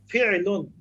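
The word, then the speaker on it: فِعْلٌ: উচ্চারণ হলো ফি'লুন, ফা আইন জের ফি', লাম দুই পেশ লুন, ফি'লুন। আইনের উপর একটা ইয়া হবে, সাকিন হবে। তবে বাংলায় অনেকে আমরা ফেল ফেল বলে থাকি, এটা সাধারণত মানুষের মুখে মুখে হয়ে থাকে, তবে আরবিতে ফি'লুন।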